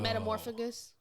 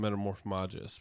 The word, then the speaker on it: Metamorphmagus: metamorphagus. What? Isn't that what metamorphagus? I think they call him Metamorphmagus, but Well, I'm just